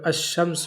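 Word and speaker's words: الشمس: तो इसी वजह से जब हम अब क्या करेंगे शम्स को बोलेंगे अलिफ लाम के साथ भी तो वो अलाम नहीं पढ़ा जाएगा अशम्स होगा क्या होगा अशम्स लाम पढ़ा इसका नहीं जाएगा इसी तरीके से जो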